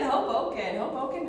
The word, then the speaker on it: Hoboken: Did I say it right? Hoboken. You did, Hoboken, no joking.